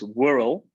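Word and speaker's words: Whrrl: i'm the non-executive chairman of um it's actually pronounced whirl the w-h-r-r-l okay whittle warehouse receipt related lending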